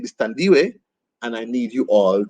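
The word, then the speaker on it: Thandiwe: decided you know what no my name is tandiway and i need you all to spell it correctly and call me that so she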